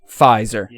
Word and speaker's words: Pfizer: it pophizer vice pfizer the p is silent yeah pfizer pfizer i'm invested in